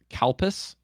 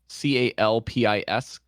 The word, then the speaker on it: Calpis: They have this soda here called Calpis, Calpis. It's pronounced Kadupis in Japanese katakana form, but like you can